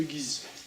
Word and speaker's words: Guise: Si vous ne l'avez encore jamais visité, allez voir le familistère de Guise, ou de Guise, selon la prononciation que vous choisissez.